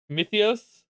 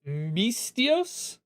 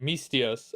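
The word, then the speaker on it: Misthios: Mythios Myth mythios.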